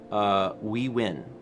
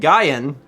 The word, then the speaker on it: Nguyen: the school I meant also please call me we win we win all right I'm gonna try and remember that that is it's a word that I have seen that's the name I've seen and have never actually pronounced so and Guyon was what my my very Western brain said but we win I will I will